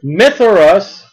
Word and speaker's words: Mithras: And Mithras, I like to spell it M-Y, but it's M-I-T-H-R-A-S.